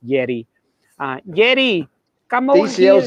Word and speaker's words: Yerry: He calls him Jerry. Jerry Mina? That's his cousin. He's out, but Yerry Mina might be in. Of course, in South America, anyone named Jerry, it's pronounced Yeri.